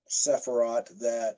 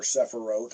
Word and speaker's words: Sephiroth: reading that uses the 10 Sephiroth or Sephiroth, I've heard it pronounced both ways, that the path of the flaming sword actually passes through in the traditional sense.